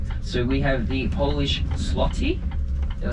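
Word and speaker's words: złoty: a new currency so we have the Polish slotty did I say it right that's the one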